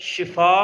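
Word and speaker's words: شفا: ई हो जाता है लिहाजा बेहतर लफ्ज जो है वह है शिफा कि अल्लाह आपको शिफा दे तो शीन के नीचे जो है वो जेर आता है जी तो कुछ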